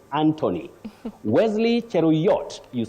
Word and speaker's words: Anthony: not Thailand Brian mutes Anthony not anony Anthony Wesley cherot you say